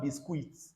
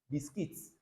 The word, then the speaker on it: biscuit: Bisquit, not bisque. The UI here is just it biscuits. Biscuit.